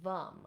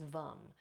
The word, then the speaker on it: vam: And the seed sound for that is Vam. So they're all going to rhyme here with the sound. This one is Vam.